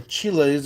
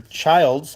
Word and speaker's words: Chiles: over and over again rich chills or Chiles or Childs I think it's pronounced child and they wrote on